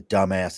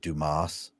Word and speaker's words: Dumas: a real asset to dumbass and dumbass. I am real dumbass material. I can make this happen. And finally he gets done and the guy goes, it's pronounced Dumas.